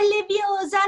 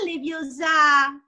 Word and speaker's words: Leviosa: di più a sparargli pronuncia è leviosa non leviosa grazie faccio fatica grazie